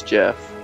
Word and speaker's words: Geoff: Geoff. It's Geoff. It's Jeff. Is it really? I never Yeah. really knew how to pronounce that, but I guess it is.